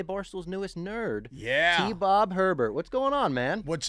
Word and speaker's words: Hebert: It's actually Hebert. It's not Herbert, it's Hebert. And this is good. It's a learning process. It's a very Cajun last name.